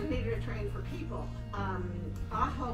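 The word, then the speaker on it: Ajo: Aho was a It's spelled A-J-O.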